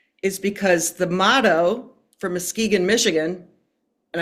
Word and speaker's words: Muskegon: because the motto for Muskegon, Michigan, and I'm going to spell it out for you, Muskegon. So there's an S, a go, and an us and a go in it, right?